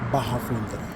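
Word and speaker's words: Barra Funda: This is Bahafunda. But because I used to be an American, I pronounced it baunt. Brazilians pronounce it Baja.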